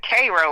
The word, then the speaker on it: Cairo: It's actually, they pronounce it Cairo, like Cairo, the syrup.